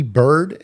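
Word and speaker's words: Byrd: you look that guy up amiral Richard E bird and it's spelled b r yd I want to look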